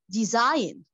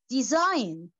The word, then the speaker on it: design: delicious meal building building design okay the letter G is keeping silent design okay Fountain fountain okay